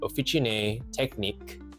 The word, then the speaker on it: Officine Tecniche: That's pronounced officion technique and Puno Kyooo, by the way.